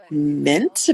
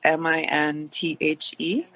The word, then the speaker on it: Minthe: wonderful river sea nymph called Mint, but it's spelled a really interesting way. It's Minthe.